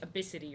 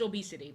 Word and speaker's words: ABCD: there's a girl named ABCD and it's pronounced like absity or something like the